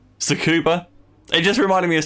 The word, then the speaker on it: Tsukuba: Tsukuba. It just reminded me of Tsukuba, actually. He used to call it TS Kuba.